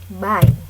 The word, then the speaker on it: buy: disebut dengan verb verb itu tulisannya buy kalau kita ngomong Indo kan itu buy tapi kalau pronunciation Inggris dia bacanya by ya cara bacanya by by ya Mbak Yi good Ya